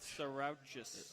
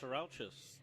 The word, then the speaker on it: Tsarouchas: I'm going to go with Sarouchas. Oh, Sarouchas. Oh, really? I believe that's Greek. I think you've got it.